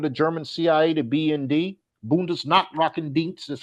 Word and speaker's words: Bundesnachrichtendienst: the equivalent of the German CIA, the BND, Bundesnachrichtendienst is how you pronounce it in Germany.